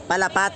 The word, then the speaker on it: Palapat: Sir, ano ba pronunciation yan? Palapat.